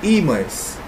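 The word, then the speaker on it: ímã: Imã ou imãs.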